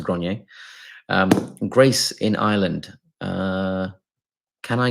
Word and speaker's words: Grenier: I know everyone else will probably pronounce it grain or grainy, but I think it's pronounced Grenier.